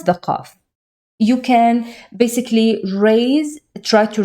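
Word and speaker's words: قاف: This is the name of it is qaf, but the pronunciation is q.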